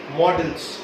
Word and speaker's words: modals: आज पढ़ रहे हैं मॉडल्स, जिसको लोग क्या क्या बोलते हैं, मॉडल्स भी बोलते हैं, मॉडल्स भी बोलते हैं, बट मैं बताने जा रहा हूँ इसकी करेक्ट प्रोनाउंसिएशन है क्या। इट्स मॉडल्स।